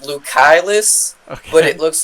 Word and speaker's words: Lucaelus: to explain where the name came from it's lucillus but it looks like it's pronounced lucaylus so like it started out my channel was